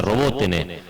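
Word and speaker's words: Роботине: sonar una localidad que se escribe robotin que se pronuncia roboten Bueno es muy cerquita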